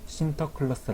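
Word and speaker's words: Sinterklaas: 선물을 나눠 줬는데 이 성 니콜라스 를 내렸는데 발음으로 쉼터 클러스터 라고 한답니다 그리고 네덜란드가 미국으로 진출 했을 때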